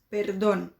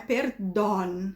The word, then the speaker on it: perdón: o caso de perdão, eu não posso pronunciar esse O com som de O, tá? Não existe O em espanhol na pronúncia. Então, vai ser O. Então, vocês têm ali os exemplos. Ojo, cosa, ocho, vaso, perdón. Tá? Não é perdón, é perdón. don, tá? Fechadinho.